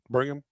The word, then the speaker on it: Birmingham: Yeah, you have to you have to annunciate as few letters as possible. Burm is the key.